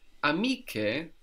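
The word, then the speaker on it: amiche: i c h e here we have to put the c h to maintain the H C Sound otherwise C would give us which is not the word it's amik so that's spelled a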